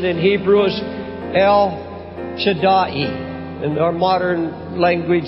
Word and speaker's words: El Shaddai: The actual pronunciation in Hebrew is El Shaddai. In our modern language, it's El Shaddai. But the proper pronunciation is El Shaddai.